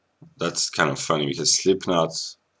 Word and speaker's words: Slipknot: kind of funny because slipknot if if someone with a bad pronunciation speaks the name of the of the rock band they say sleep not which means awaken that's kind of kind